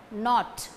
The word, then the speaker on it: knot: Knot, K-N-O-T, knot, first letter K is silent.